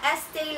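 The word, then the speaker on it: Estée: for you like me me me Ilana this Estee Lauder to be honest I'm not familiar with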